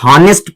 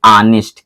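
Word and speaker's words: honest: बहुत सारा बच्चा लोग नेस्ट पढ़ता है ये नेस्ट नहीं है जब एच साइलेंट हो गया तो इसको पढ़ेंगे ऑनेस्ट क्या पढ़ेंगे मेरे बच्चे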